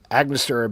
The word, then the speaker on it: Angostura: It is rye whiskey, Amaro, honey syrup, lemon juice, absinthe, Angostura bitters. I'm definitely, am I mispronouncing that?